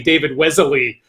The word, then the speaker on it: Wesley: david's watching again i i believe i've been informed to very carefully say david wesley um is what he